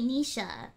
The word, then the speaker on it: Nisha: be so cute um it's actually Nisha as in sharks Nisha but okay people